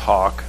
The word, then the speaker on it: Houck: As the clerk indicated, this is a contract with, it's pronounced Hawk Transit Advertising, kind of spelled a little strangely.